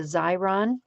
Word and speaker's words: Xyron: there are also adhesive applying machines like the xyron and that is spelled x y r o n and the